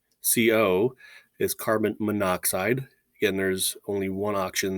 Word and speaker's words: monoxide: And again, the prefix mono and the element oxygen have those two O's that line up. So we allied them, remember from the notes, into kind of one syllable where it's monoxide.